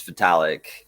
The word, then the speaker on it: Vitalik: easier yeah yeah exactly we all just say Vivi uh no it's it's vitalik but it yeah metallic